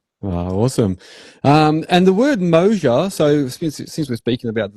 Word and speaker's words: Moasure: It does certainly have a lot of mojo, but it's pronounced, as you say, Moasure. Think of it as, I don't know, two words, motion and measure, welded together in perfect harmony.